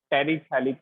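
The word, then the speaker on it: terephthalic: T silent है, टेरिथैलिक acid, TEREPTHALIC।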